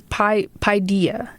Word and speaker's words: paideia: So, it's paideia, is how it's pronounced, and is an ancient Greek term for